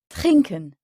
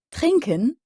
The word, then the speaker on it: trinken: trinken trinken à l'oral les mots allemands sont souvent accentués sur la première syllab ils peuvent être accentués sur d'autres syllabes mais généralement pas la dernière comme c'est le cas en français donc on dit trinken trinken c'est boire là l'allemand